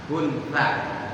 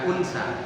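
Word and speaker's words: خنثى: Pakai H. Kunsa bukan unsa. Kalau unsa perempuan.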